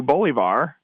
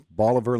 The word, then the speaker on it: Bolivar: I just deducted points it's it's Boliver like Oliver Boliver okay I wanted to be fancy bolivard yes we're we're not